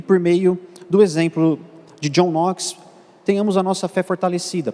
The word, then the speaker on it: John Knox: É comum alguns irmãos pronunciarem John Knox, considerando a pronúncia do K, mas é uma pronúncia equivocada. A pronúncia é John Knox, ignorando esse primeiro K.